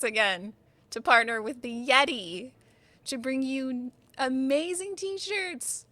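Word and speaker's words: Yetee: And remember, I know we all know this, but I know there's some people who don't know, but Yeti is spelled Y-E-T-E-E, like t-shirt.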